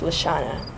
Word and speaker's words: Lashawana: W and the N, spelled Lashawana, but pronounced Lashana.